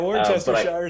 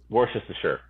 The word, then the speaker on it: Worcestershire: You put too many syllables in there. It's not Worcestershire, it's just Worcestershire.